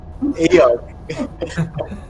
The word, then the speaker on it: Eikooc: Please, The K is silent. Eikooc.